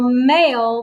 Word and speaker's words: mail: to me we will mail the letter now in this word mail the i is silent so which vowel do you hear so in this word the i is silent so did you spell